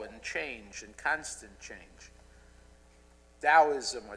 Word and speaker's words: Taoism: Taoism, or Taoism as we now pronounce it, in fact, encourages us to embrace